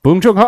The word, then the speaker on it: Bong Joon-ho: Bong Joon-ho.